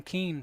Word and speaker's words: Keene: Stevenson playing Keene today, or Kane, I beg your pardon. It's spelled Keene, it's pronounced Kane.